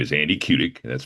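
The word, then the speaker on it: Kudick: My name is Andy Kudik. That's spelled K U D I C K.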